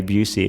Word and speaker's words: Bucci: My grandfather told me to pronounce it the American way, Busey, which is interesting.